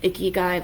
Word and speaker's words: ikigai: Not like ikigai, like a gross guy, like the Japanese word, ikigai.